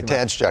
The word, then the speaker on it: Tadge Juechter: best job in Detroit, chief engineer for Corvette, Tadge Juechter. Am I saying it right? It's the hardest. You got it, Jay. Tadge Juechter.